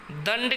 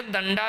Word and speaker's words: दंड: लाठी कसरत, यानी लाठी दंड के साथ में कसरत। इसे दंडा भी कहते हैं। हाँ, उसको शुद्ध उच्चारण में दंड कहा जाता है।